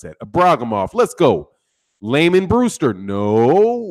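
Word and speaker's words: Ibragimov: of the Braga MA there's a bra come off is how you pronounce that a bra come off let's go layman brewster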